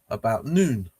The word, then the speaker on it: Noone: And so this fine 9 News, also known as Noone, pronounced Noon, yeah, is the original science of the universes.